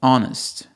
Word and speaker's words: honest: Ou de palavras que têm H, mas o H é mudo, como honest, honor, an honor, an honest person, e assim por diante.